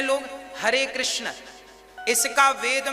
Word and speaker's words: कृष्ण: वेद मंत्र है ये शुद्ध उच्चारण इसका क्या है हरे राम हरे राम राम राम हरे हरे हरे कृष्ण हरे कृष्ण कृष्ण कृष्ण हरे हरे ये वेद मंत्र बोल